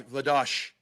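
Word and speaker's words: Vladař: of a season dominic can we start the trend to pronounce vladar as vladosh like karel pilash in toronto no dominic we can't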